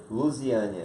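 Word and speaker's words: Luziânia: Como é que pronuncia? Lusiânia.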